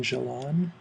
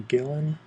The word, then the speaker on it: Gillan: I was introduced to the actress, and I may be pronouncing her name incorrectly, but Karen Gillan, or Gillan. It looks like Jillian, but it doesn't have a second eye.